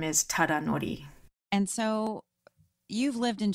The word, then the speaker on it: Tadanori: And his first name is Tadanori.